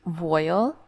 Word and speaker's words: voile: A cursory Google search has revealed that it's actually pronounced voile, so cotton voile.